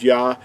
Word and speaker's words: Yahuah: The first two letters are pronounced as Yah. In the English letters, we would use the YAH, which will give us what these two letters would sound like.